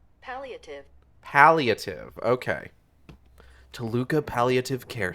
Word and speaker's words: Palliative: Pronunciation. Palliative.